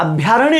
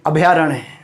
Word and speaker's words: अभयारण्य: इसलिए मेरा आपसे परामर्श है कि वाचन में भी आप अभयारण्य नहीं बोले, वाचन में भी आप क्या बोलेंगे, अभयारण्य।